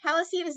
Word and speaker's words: Palatine: the heroes or whatever, is it the Palatine? Am I pronouncing it correctly? Yeah, the Palatine, and they are not the heroes at all.